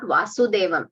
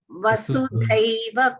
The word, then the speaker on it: वसुधैव: Here it is not Vasudevam. It's not Krishna. It is Vasudha. Dha is Mahaprana. Vasudhaiva Kutumbakam.